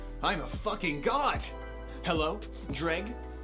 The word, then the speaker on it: JReg: It's pronounced JReg. What? Yeah, it's not some big mystery. It's like dread, but with a G at the end. JReg.